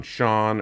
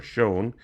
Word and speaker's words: shone: Just a funny note here on shone or shone, might swear his presence shone. If you rhyme it with throne, then you choose that British pronunciation.